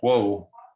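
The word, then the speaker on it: Juh: in Mexico and they were the band of whoa which is how I choose to pronounce it it's j-u-h but a few people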